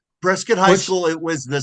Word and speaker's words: Prescott: prescat in Prescat Because yeah, Prescuit. I'm sorry. I apologize, Ken. I keep saying Prescott and I know it's pronounced You talked about on your radio show one morning.